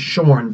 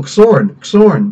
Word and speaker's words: Xorn: It should actually be pronounced Shorn, but most people I talk to are like, oh, Xorn. It's like, dude, he's got a Chinese name. It's pronounced with a sh kind of sound, sorry, or maybe a